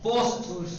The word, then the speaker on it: پوست: جی اسے پست مت پڑھیے گا، پوست، وہ پیوا پہ پوسین ساکن تے ساکن ہے، پوست ہے، پوست، یہ پوسٹ ہے، پوسٹ، پوسٹ یعنی پوسٹ، پوسٹ، پوسٹ آفس نہیں سنا آپ نے؟